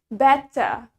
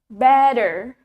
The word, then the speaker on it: better: it but uh now in American accents America remember T in the middle is replaced by D we need better better and the r is also clear then now let's compare them